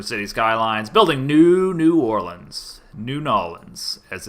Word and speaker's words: New Orleans: New Nolans, as it's never actually pronounced.